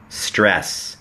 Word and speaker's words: stress: Don't แล้ว ก็ สดร str str stress ตรง นี้ ไม่ ได้ ออก เสียง เป็น ต เต่า นะ ครับ แบบ ว่า stress นะ ฮะ แค่ stress stress stress Don't stress Don't stress